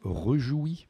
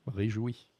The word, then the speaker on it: réjoui: Autre petite difficulté, ça peut paraître idiot, mais le préfixe, on a envie de le prononcer sans accentuer le E, et donc si on construit repudier, on passe à la trappe. Exemple classique, rejoui par exemple, et non, réjoui.